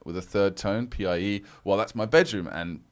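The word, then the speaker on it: piě: And then pie with a third tone, P-I-E. Well, that's my bedroom. And pie, P-I-E, is pronounced like piede in foot in Italian and pie in Spanish.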